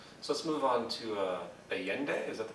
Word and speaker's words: Allende: So let's move on to Allende, is that the pronunciation? Mm-hmm. Yeah. Well, Allende again, president of Chile, and Allende went up against a very powerful U.S.